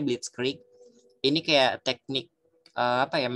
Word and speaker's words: Blitzkrieg: Jerman namanya teknik blitzkrieg Gue lupa tulisannya kayak gimana Tapi tulisan Tapi bacanya blitzkrieg ini kayak teknik apa